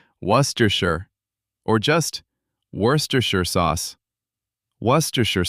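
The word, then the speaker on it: Worcestershire: Worersher sauce. Not woresterers. Just worershir.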